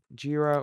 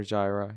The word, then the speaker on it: Jira: let's move on to jir or Gyra you know however you like pronounce it so jir is a